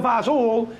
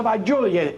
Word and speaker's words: fagioli: Now, we're going to make pasta fazool, is what we used to say as kids. Mom, we're going to have pasta fazool. We're going to have pasta fagioli. It's spelled with a G.